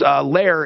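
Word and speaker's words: Lehrer: But Lair, how do you spell it? It's Lair is L-E-H-R-E-R.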